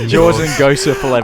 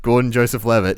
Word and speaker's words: Gordon Joseph Levitt: I was getting his name wrong. Jordan Joseph Levitt. I couldn't remember his name. Jordan Joseph. Yeah. What was his name again? Gordon Joseph Levitt.